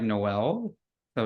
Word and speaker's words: Noels: your name right yeah it's actually pronounced um like Christmas like Noel so it's like a Noels